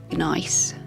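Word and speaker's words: gneiss: GN e I SS so I think it's pronounced nice something like that and that rock is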